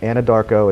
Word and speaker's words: Anadarko: There is a theater in Anadarko, look it up everybody, Anadarko, it sounds just exactly how it's spelled, theater called the Redskin Theater in Anadarko, Oklahoma.